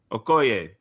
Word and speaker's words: Okoye: Okoye, his general, like, neither of them were wrong for what they were doing, because they were still serving the throne.